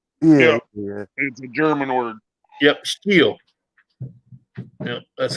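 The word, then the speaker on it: Stihl: yeah funny thing is we call it still but it's not pronounced still it's steel yeah yep steel that's how they pronounce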